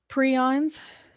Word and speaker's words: prion: you do come in contact with this stuff prions you can see there it's pronounced like that prion this is a host